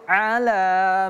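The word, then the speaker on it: على: Perhatikan huruf ain. A a. Hati-hati jangan ala bukan wasbir ala tapi wasbir ala ala wasbir ala 1 2 3 wasbir ala a bukan a bukan ala a i u berbeda dengan a i u ini a wasbir ala maa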